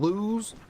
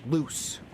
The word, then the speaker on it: lose: Actually saying lose, you're kind of supporting what he said because he said he doesn't lose anymore. But he said it wrong, saying loose.